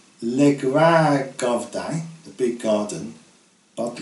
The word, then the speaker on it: grandes: as several grandes maisons, and they are always pronounced grand in the Norman French style, rather than grade as in standard French.